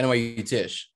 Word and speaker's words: Tisch: Yeah, NYU Tisch. Yes, NYU Tisch. Okay. It sounds like it make the pronunciation, I'm like, it can't be that easy to say.